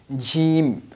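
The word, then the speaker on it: جيم: lecture is about gene gene basically like J in English Jim will announce it longer she like G so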